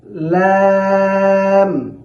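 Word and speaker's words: لام: আমরা যে বলেছিলাম এখানে ভেতরে, অর্থাৎ দাঁতের সামনের যে দাঁতগুলো রয়েছে এর গোড়া সংলগ্ন যে রেখাযুক্ত যে তালুটি আছে সেখানে জিহ্বার অগ্রভাগটাকে লাগাইয়া লাম খুব পাতলা করে উচ্চারণ করতে হবে, যেন লামটা ভারী না হয়, লাম এমন যেন না হয়। লাম, লাম।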